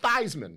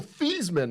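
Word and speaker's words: Theismann: what I'm saying Joe thyman Jo thyman now his name was Joe thesman in college but he was trying to promote himself for the Heisman so he switched the pronunciation of thyman yeah he didn't win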